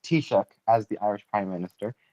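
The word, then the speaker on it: Taoiseach: First off, it's not pronounced Tisha. It's it's it's pronounced pronounced Tishuk as the Irish prime minister.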